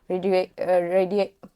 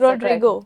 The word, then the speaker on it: Rodrigo: ever questioning his intention radio. I'm saying his name wrong, aren't I? Rodiego. That's Rodrigo. Rodrigo. Yes. Yes.